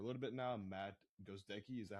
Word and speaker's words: Gozdecki: little bit now, Matt Gozdecki. Is that how you pronounce it? Yeah, it's Gozdecki. It's very phonetically the same, but like it trips people up a lot.